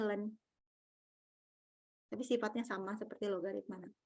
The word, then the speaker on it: ln: Nah, kalau natural, lambangnya dengan len nih. Ini bacanya len.